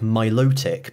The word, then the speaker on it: Milotic: got official pronunciations like Milotic because it's based on the the names from the Venus de Milo statue but there's no way